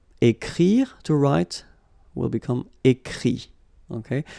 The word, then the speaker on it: écrit: Écrire, to write, will become écrit. Okay? Remember that phonetically this final T doesn't exist. Okay? So the sound will be only this I, écrit.